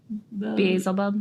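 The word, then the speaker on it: Beelzebub: and oh how do you say that name bzel buub Basel buub yeah do you see I intentionally kept it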